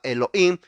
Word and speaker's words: Elohim: muda in lo dicen por eso se llama Elohim en inglés Elohim siempre en inglés la hj recuerde Aquí está aprendiendo inglés siempre en inglés la hj Elohim o Elohim eso es plural lo cual significa